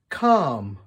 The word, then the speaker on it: calm: back close zip up silent L talk walk half salmon calm yolk can you think of